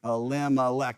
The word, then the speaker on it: Elimelech: Elimelech. It's 4 syllables.